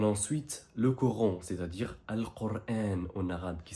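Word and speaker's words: القرآن: On a ensuite le Coran, c'est-à-dire Al-Qur'an en arabe, qui s'écrit de cette façon et qui est répété 77 fois dans le Coran. Répète après moi, Al-Qur'an, et pas le Coran.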